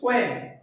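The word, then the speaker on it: qualm: Next word is क्वेम। क्वेम का मतलब यहाँ पर एल साइलेंट है प्रोनाउंसिएशन में।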